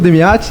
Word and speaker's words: Demiate: de entrevistas pessoas mais que especiais, professor Ivo Demiati e professora Adriana Campagnoli. Essa é a pronúncia correta.